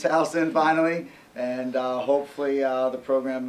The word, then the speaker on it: Towson: of who Towson is the proper pronunciation it's Houston finally and hopefully the